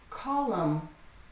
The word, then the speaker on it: column: 3 syllables. Government. Solemn. Solemn is like sad or serious. Solemn. It was a solemn day. Column.